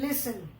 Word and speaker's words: listen: Now see children, this word LISTEN, listen. ठीक है, in this word the pronunciation of T is silent.